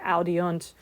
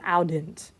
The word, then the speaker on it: audiunt: It's easier to say audiunt than audint. Like it's just, that vowel just showed up just the way it's pronounced.